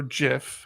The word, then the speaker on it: GIF: gift person anyways the creator of gif or jiff however you want to pronounce it he does call it he calls